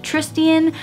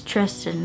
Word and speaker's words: Tristan: Cecile and Tristan, and I said his name like Tristian for like the whole time until I saw the like how to pronounce the characters' names and the end of the prequel book, and I was like, wow, that's Tristan, not Tristian.